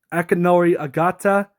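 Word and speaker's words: Akinori Ogata: Akenori Agata, that's how you say his name.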